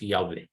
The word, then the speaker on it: Yahweh: just call it are proper pronunciation of the holy name of our God is Yahweh sorry that you wrote